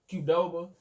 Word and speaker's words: Qdoba: Like, they still got the Doba, but they got the C-O-R, like how it's pronounced Qdoba. Because the C and the Q sound the same.